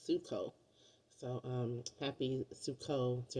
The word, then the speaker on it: Sukkot: way to say it it's not sucot it's suo so um happy suco